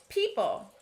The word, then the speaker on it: people: People has a consonant LE syllable at the end that sounds like pull, as expected. The first syllable, though, is tricky. We see an O, but we don't hear it. So we know people is a trap word.